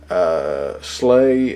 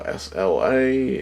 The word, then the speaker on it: SLA: Apparently, you pronounce it Slay. You don't say SLA. But if you were to read it, you'd say Sla.